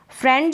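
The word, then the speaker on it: friend: फ्रेंड जो है ना ये फ्रेंड में आई का उच्चारण ए कर रहे हैं। क्या कर रहे हैं? फ्रेंड ए। ठीक है? फ्रेंड इस ए के रूप में फ्रेंड आप देखेंगे तो यह ए इसका उच्चारण हो रहा है।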